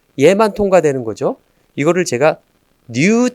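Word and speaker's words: ν: 이거를 제가 new T 이거는 new라고 읽어요. 그릭 월드로.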